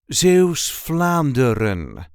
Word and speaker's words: Zeeuws-Vlaanderen: we say z flandin z Flander there is a light emphasis on the first syllable of the second word Z flerin Zan flerin